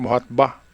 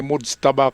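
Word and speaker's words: Mojtaba: Mstaba sabi ng reporter Muhatba ngayon ko lang narinig 'yung pronunciation na 'yan na ah kahit kahit saang news channel yan ay mods taba kamini hindi muhatba okay so anong power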